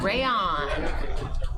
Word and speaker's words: Rayon: Yeah, so seat 1's name is pronounced Rayon. Rayon. Like a crayon, but it's a rayon.